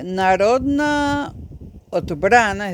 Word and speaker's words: Narodna Odbrana: Bueno, voy a pronunciarla esta vez en serbio, pero leyéndolo como si fuera español. Bueno, cuando en un nombre hay una sola vocal, Dios mío santo, ¿no? Sparka Narodna Odbrana.